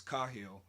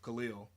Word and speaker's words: Khalil: What's interesting is that my family and way back friends probably remember my name as Kahil, which was just a mispronunciation of Khalil.